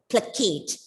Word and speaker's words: placate: The stress is on the second syllable, placate, to make somebody feel less angry, because this is a word that can be used in your everyday life.